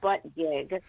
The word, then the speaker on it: Buttigieg: Buttigieg or whatever. Listen, he can pronounce it any way he wants to. He's calling it Buttigieg or something instead of butt gig. It's butt gig. I mean, it's spelled B-U-T-T.